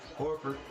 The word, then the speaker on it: Horford: I mispronounced Horford's name. I wanted to call him Herter. It's Horford.